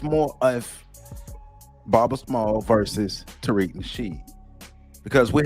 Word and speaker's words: Small: He was real worried about me saying the S on Smalls. Where he at? Where you at? Where your name at? I'm saying it right now, Baba Small. You happy now? Baba Small. I ain't say Smalls.